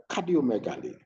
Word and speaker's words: cardiomegaly: So the word cardiomegaly, how is it pronounced?